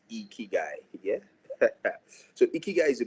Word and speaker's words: Ikigai: So somebody said you cannot pronounce Ikigai without smiling. Yeah, your cheeks will naturally just raise. Ikigai.